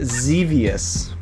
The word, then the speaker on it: Xevious: Number 62, Xevious. Xevious? Is that how you say it? Is that right? Xevious. Xevious. Yep. Just think devious with a Z sound.